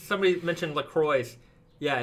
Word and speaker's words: LaCroix: This is a weird, it's somebody mentioned LaCroix.